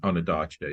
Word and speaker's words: Ondaatje: Is that how you pronounce his name? Ondaatje, yeah.